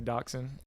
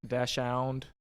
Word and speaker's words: dachshund: And dachshund can be pronounced a couple different ways. I like to say dachshund, dashound, however you want to say it.